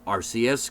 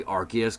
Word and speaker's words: Arceus: to this day like I even say RCS because I will not say Arceus because to me it's just burned in my car like RC is better I see I literally just say Arceus but like dude anarith